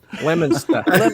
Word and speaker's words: Leominster: all the i think all the syllables go together are you ready i was like smushing them it's leominster lemon stuff lobster is how